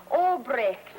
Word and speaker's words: Albright: It's pronounced Albrecht. You know, as in, it's an Albrecht moonlight neck to neck.